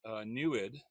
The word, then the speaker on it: NEID: the mirror there, is using an experiment called NEWID, which is spelled NEID.